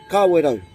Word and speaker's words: Kawerau: place name is car window yes that's right car widow alright not tell we're out there's our I've